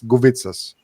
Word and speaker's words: Guvitsas: It's Guvitsas. That's how it's pronounced. Yes, it's just that it has like an extra K in there, just so.